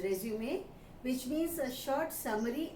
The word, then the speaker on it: résumé: It's a French word and its pronunciation is resume, which means a short